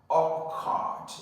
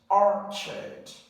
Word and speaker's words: orchard: a a sound Ed many people would easily mispronounce this as or card it's not or card it's Archard orchard all right the next